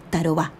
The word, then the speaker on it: Tarobá: naipe ya su pretendiente tarobá quizás les llame la atención que todos estos nombres llevan la última sílaba acentuada es que son de origen guaraní una lengua que se